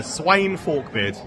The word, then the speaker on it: Sweyn Forkbeard: Yeah, the Sweyn Forkbeard is how you say it.